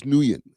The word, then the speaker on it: Nguyen: I know Flacco like completely botched up the pronunciation of his name, but it's George Nguyen.